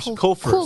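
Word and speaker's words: Culver's: Kohlfers. Like as in like that's a cool fur coat.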